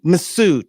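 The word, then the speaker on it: Mifsud: misfud how do I say his name misud massud yeah that's how you pronounce it m f s u d massud he misar characterize him as a Russian intelligence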